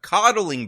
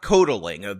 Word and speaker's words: coddling: Codling black people, not codelling. This is what happens when you read a word your whole life and you never hear other people pronounce it. You end up saying words like codeling which don't exist.